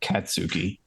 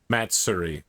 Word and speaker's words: Matsuri: It's not Katsuki. Matsuri. It means festival. Matsuri.